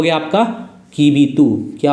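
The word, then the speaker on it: Kibithu: और ऐसे east most point की बात करेंगे तो ईस्ट मोस्ट पॉइंट कौन सा हो गया आपका, कीबीतू, क्या हो गया, कीबीतू।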